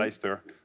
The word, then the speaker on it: Leicester: qui sont très bizarres, parce qu'il y a un C-E-S-T-E-R, mais C'est ça ça. se prononce en une seule syllabe. Alors, redites-le nous. Leicester, Worcester.